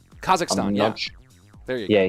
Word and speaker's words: Kazakhstan: in I'm not sure how you say it kazakistan Kazakhstan yeah there you go yeah he's leaving there